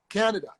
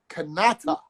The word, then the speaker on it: Kanata: the word canada because the name for this country is not canada it's kanata that is the indigenous that is the name of this country i am going to